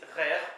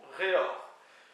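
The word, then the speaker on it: revr: personne, donc le cul, ça s'écrit R-E-V-R, ça peut se prononcer RER ou REOR, ou peut-être même REOR. Bon, moi, comme d'autres personnes, j'aime bien le prononcer RER, enfin bref, c'est mon avis.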